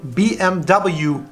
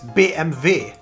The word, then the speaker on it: BMW: first one everybody knows it how would you pronounce this one be m/w BMW but originally it is BMV they and their BM v damn there so